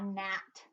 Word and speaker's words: gnat: The next word is a gnat. That little bug. The G is silent.